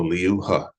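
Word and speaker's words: Liu He: So L I U Leo and then H spelled H E like he but in pinion is pronounced H. So, Leu Ha, L I U and then H E Leu Ha.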